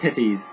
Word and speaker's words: Tethys: It's actually pronounced titties.